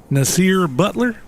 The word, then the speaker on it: Nasir Butler: Nasir Butler, is that the way you pronounce it? Yep.